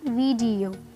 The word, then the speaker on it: video: ये भी मैंने आपको जो पीछे वीडियोस करवाई हैं इनकी करेक्ट प्रोनाउंसिएशन कराई है। क्या बोलते हैं लोग इसे? वीडियो। वो गलत है। क्या होगी correct pronunciation? वीडियो, वीडियो। डी पे स्ट्रेस डालना है आपको।